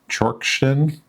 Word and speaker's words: Czorsztyn: Here I have some photos I took last summer at Lake Czorsztyn. Sorry my Polish pronunciation is not that good.